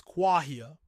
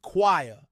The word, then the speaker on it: choir: Now, the correct pronunciation is choir, but Americans often say choir, as in both the metal and the verb to inquire.